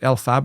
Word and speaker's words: Elphaba: My kids love it, but Elphaba, I think is how you say that.